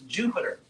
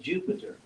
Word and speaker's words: Jupiter: So if you have that same, so in Europe, a D-Y can be pronounced like a J, like in England, Europe, duty, your duty. So if you use that same pronunciation here, you get Jupiter.